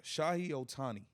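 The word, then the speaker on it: Shohei Ohtani: man um I want to make sure I pronounce his name right uh Shah Otani he's a monster he's a monster money no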